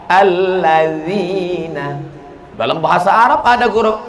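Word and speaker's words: الذين: Alat zina. Loh, kok menjadi alat zina? D sama Z itu bacanya la. Allazina.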